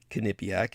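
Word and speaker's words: Quinnipiac: a kipc poll that I'm trying to source kipc is the correct pronunciation it's spelled Qi n p a having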